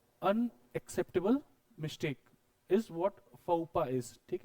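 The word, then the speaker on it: faux pas: explain कर देता हूं इसमें जो लास्ट लेटर होता है हमेशा साइलेंट होता है अब जरा एक्स और एस को जो है कर दीजिए साइलेंट अब इसको प्रोनाउंस करिए फ फूफा नहीं है फपा हां हां वही वही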